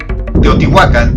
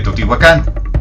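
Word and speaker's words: Teotihuacan: del náhuatl es que las palabras en ese idioma tienen el acento fuerte en la penúltima sílaba. Por ello, si lo han notado en videos de este canal, pronuncio Tenochtitlan en lugar de Tenochtitlán, Teotihuacán en vez de Teotihuacán y Aztlán en vez de Aztlán.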